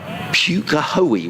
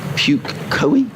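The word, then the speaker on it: Pukekohe: a place called uh pukahoei which is p-u-k-e-k-o-h-e puke koei in auckland and it's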